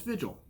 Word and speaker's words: Vigil: the next chapter i will have no it's vigil i'll be damned speaking of mispronunciations that will become a common thread throughout